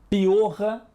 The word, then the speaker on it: piorra: Piorra e piora. Morro e moro. Carro e caro. O R de piorra, morro e carro é mais forte.